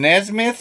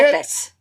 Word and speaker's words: Nephthys: Nesmith or something like that? She's hot, too. Oh, Nephthys. Say Nephthys. it? Yeah, Nesmith. She's named after Mike Nesmith, the sexiest dude. Nesmith. Okay. No, Nephthys.